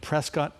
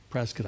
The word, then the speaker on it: Prescott: He was rebuked for a racist remark on X to Republican lawmaker Quang Nguyen of Prescott. Prescott, I know how it's pronounced.